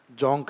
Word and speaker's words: जोंक: ओंग और एक जोंग यह जोंग ग वाला क में प्रोनाउंसिएशन करना है इसका जोंक रिवर तो ओक रिवर